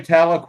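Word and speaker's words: Tahlequah: it is for us we're gonna say tala and you're not gonna know how to spell it because you're not from there you go I'll leave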